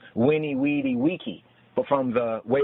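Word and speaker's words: veni, vidi, vici: But in Old Latin, it was winnie, weedy, wiki, like Wikipedia.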